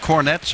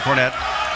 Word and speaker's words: Cornette: As Tommy said, Jordan Cornette, number 12, has an E at the end of his name, and Rick Cornette, number 11, does not. But they pronounce it the same way.